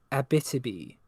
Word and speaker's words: Abitibi: I also want to say uh it's pronounced uh Abitibi River.